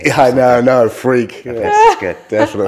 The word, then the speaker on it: Freke: I'm glad you don't try to pronounce it Freke. Yeah, I know, no, Freke.